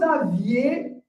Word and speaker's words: aviez: So the difference here is in the spelling as well as in the pronunciation. Vous avez, without the I in the pronunciation, but here, vous aviez, all right? So you can see, I'm trying to make sure I pronunciate the I to make people understand that I'm talking with the past tense, all right?